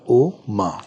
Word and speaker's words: ओम: ये ओम जो है ये विरक्ति का मंत्र है, और म जब हम उच्चारण देते हैं अ उ म, तो म में आप अपनी वाणी को बंद कर लेते हो, म में लिप्स क्लोज हो गए।